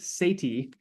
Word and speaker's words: Sethi: he brings the uh the Bodacious language ramit Sati is how you pronounce that last name he is uh of